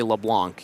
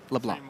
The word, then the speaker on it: LeBlanc: And then you just in that moment I noticed did not say the C. That's how it's pronounced. Leblanc. LeBlanc.